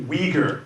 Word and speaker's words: Uyghur: are known as the weaker people in English work we look in Weger if you can say we go or it's closer to the actual pronunciation but in English we say weaker now these are people